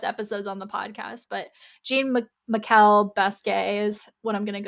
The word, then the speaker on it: Jean-Michel Basquiat: I used to pronounce it Basquiat. We've also talked about this in past episodes on the podcast, but Jean-Michel Basquiat is what I'm going to go with.